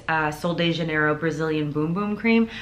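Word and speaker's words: Bum Bum: sol de janeiro brazilian boom boom cream i know it looks like it does not say boom boom but that's how it's pronounced um this smells if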